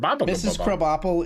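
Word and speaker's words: Krabappel: Principal Skinner Mrs kop Principal what Mr kab KB apple is uh it's spelled crab apple but it's pronounced KB Apple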